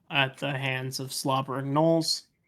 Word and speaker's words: gnolls: the hands of slobbering gnolls. Sounds about right. Gnolls, my greatest weakness, besides graham crackers. Silent G is my greatest weakness. Yes. Pretty much anything with a silent G.